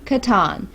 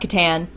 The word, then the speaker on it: Catan: Before you leave a comment, we understand that it is technically Catan, but we're from West Virginia. We have never heard it pronounced that way. We've always heard it pronounced Catan, so that's what we went with.